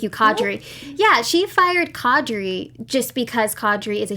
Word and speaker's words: Qadri: did fire I'm gonna say him at her name wrong Adri Adri Adri thank you cadre yeah she fired Qadri just because Qadri is a huge she she